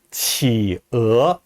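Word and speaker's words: qǐ'é: 이 펭귄은 치어 이렇게 발음합니다.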